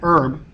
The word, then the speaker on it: herb: So an herb, just because we wouldn't say a herb in this sense because the H is silent as it is a French pronunciation.